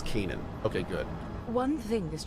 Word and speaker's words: Canaan: Oh, she finally pronounced it as Canaan.